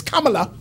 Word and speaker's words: Kamala: to say her name, Kamala, it's Kamala. You have to say it like it's a Hindi, Sanskrit name, Kamala Harris.